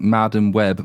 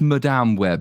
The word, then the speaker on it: Madame Web: the difference telling me off because I kept pronouncing Madam web Madam web which it is what for not saying what was the differenceb it's Madame web someone it's Madam mad it's like the French